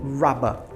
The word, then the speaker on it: rubber: inglês britânico eles cham Rubber Rubber ou na pronúncia do inglês britânico rabba rabba que também é diferente né o sotaque deles então Eraser no inglês